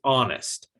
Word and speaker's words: honest: And honest has two syllables, but the first syllable is getting the stress.